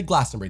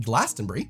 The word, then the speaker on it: Glastonbury: But sad fact, I did not get tickets to Glastonbury this year. Notice I pronounced it Glastonbury, not Glastonbury.